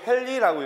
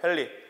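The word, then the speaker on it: ヘンリー: H라고 쓰고 이걸 헨리라고 읽죠. 헨리.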